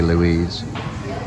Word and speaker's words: Louise: Some might pronounce it Lewis, but it was supposed to be Louise.